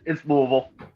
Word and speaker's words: Louisville: Ooh, I say it both ways, but it's Louisville. Thank you. Because the people in sports, other will be like, it's Louisville or Louisville, and I'm like, that's not how you say it.